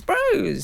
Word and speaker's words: Bros: very good yeah well I got critized for pronouncing the name of the band Bross Bross by uh my God daughter's best friend Lulu who said it's Bros it's Bros you idiot I think she did